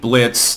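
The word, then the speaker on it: Blitzø: comprised of, predictably, imps, led by one named Blitz, the O is silent, who kill humans in the world on behalf of clientele in hell.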